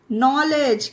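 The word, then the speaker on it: knowledge: नॉलेज, के बाद एन आया है तो इसे नॉलेज पढ़ेंगे।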